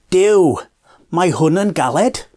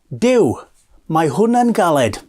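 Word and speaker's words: Duw mae hwn yn galed: you're doing something very difficult and the phrases do my horn and gullet which means god this is hard do my horn and Khalid I'll say it slower so you can get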